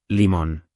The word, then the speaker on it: limón: Pronunciar bien cambia todo: melón lleva acento en lón, y limón igual, limón.